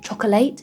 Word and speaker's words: chocolate: But like chocolate. Chocolate. Yeah, careful, we have the classic schwa sound, chocolate, just 2 syllables, chocolate.